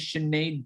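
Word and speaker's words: Chaney: woman and i believe her name is shanae jones um you spell it c-h-a-n-e-y but you can see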